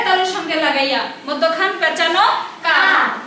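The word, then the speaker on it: قاف: আচ্ছা তোমাদের মধ্যে একজন কেউ ভুল করতেছো, কফ বলতেছো। কফ হলো জিহ্বার গোড়া, জিহ্বার গোড়া থেকে কফ উচ্চারণ হবে। আর এখানে কাফ হলো জিহ্বার গোড়া থেকে একটু আগে বাড়ায়া একটু সামনের দিকে বাড়ায়া তারপরে কাফ উচ্চারণ করো।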